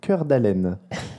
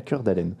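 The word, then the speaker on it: Cœur d'Alene: Il est né dans une ville qui s'appelle Cœur d'Allen. Ah oui, et ça s'écrit vraiment cœur comme en français.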